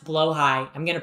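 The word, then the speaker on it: Blåhaj: great trans pilgrimage to IKEA and get a blahage? Epic vlog moment. Epic epic vlog. Um, would they spare trans people? Yes. Um, um, it's pronounced blowh high.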